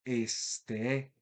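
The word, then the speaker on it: ἐστέ: para ser pronunciada, pero cuando está aislada vamos a encontrar el acento ubicado en la última sílaba, este, es decir, un acento oxítono.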